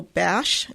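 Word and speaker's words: Basch: the new novel by Rachel bash and that's spelled b a s is in Sam C it's called The Listener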